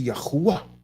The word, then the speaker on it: Yahuwah: wrong you're just wrong the w comes from you it's fact so the wall phonetically speaking will have the sound it would be yahuwah the transliteration if you anyone